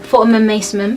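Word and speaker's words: Fortnum & Mason: tried it in Fortnum, how do you say it? Fortnum Mason. Fortnum and Mason. Fortnum and Mason. Is it Fortun?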